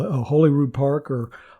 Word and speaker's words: Holyrood: area it's called a holyrood park or hollyrood park is how they pronounce it in scotland and you can see